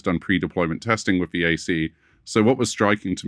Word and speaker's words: AISI: And can I just be clear, the AI Safety Institute, AISI, is pronounced AC.